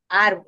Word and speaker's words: árbol: Hay dos sílabas, ¿verdad? Árbol. Y la mayor intensidad está en la primera, ¿verdad? En la última sería bol y la penúltima sería ar. Entonces, esta se acentúa en la penúltima sílaba, por eso recibe el nombre de grave o llano.